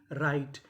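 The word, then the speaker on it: write: अगर आर से पहले डब्ल्यू लिखा है तो हमें डब्ल्यू का उच्चारण नहीं करना। जैसे डब्ल्यू आर आई टी ई राइट।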